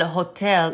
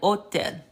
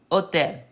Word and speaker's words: hotel: So I want y'all to know something, that the H is silent. So why don't you just look at this H and then imagine it being crossed out. Look at this H and imagine it being crossed out. Look at this H and imagine it being crossed out. And then all you're pronouncing is the rest of the word. The H in Spanish is indeed silent. So it's hola, hambre, hotel.